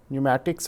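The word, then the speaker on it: Pneumatics: नहीं करता हूं बट किर्लोस्कर न्यूमेटिक्स और पी साइलेंट होगा इसमें आई थिंक भाव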